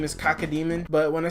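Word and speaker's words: Cacodemon: It's Cacademon. Cacademon, alright? That's how you say it. You heard me. It's exactly Cacademon.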